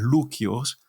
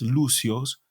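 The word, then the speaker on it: Λούκιος: también les manda saludos se dice Lucio no en el griego es luquios y luquios es la forma se escribe en griego pero la forma romana latina es lucios el lucios es una forma Latina de el nombre del Lucas De hecho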